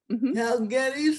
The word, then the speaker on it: Guedes: So I pronounce Gettys and she is one